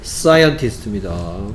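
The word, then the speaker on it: scientist: 어려운데 다 시켰고요 사이먼 아닌데 사이 사이스트 사이스트 스펠링은 si C이 난리났습니다 그렇죠 소리부터 틀렸죠리는 사이언티스트 그 여기까지 뭐가 사이가 되느냐 좀 특이한게 사이가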